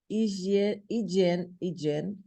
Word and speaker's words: hygiene: Of essentials like food, drink, medications and hygiene products. Essa aí é um pouquinho difícil a pronúncia, é hygiene.